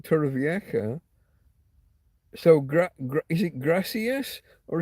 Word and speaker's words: Torrevieja: Regional pronunciation, and so some words, a J can be. It's like a K, like kicking K, capital K. Um, Torrevieja. It's that guttural.